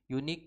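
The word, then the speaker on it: unique: लेकिन अगर हम बोलते हैं यूनिक तो ये क्या उच्चारण हो रहा है? जो शुरुआती का हमारा उच्चारण का जो साउंड आ रहा है वो आ रहा है यूनिक, यानी कि यू।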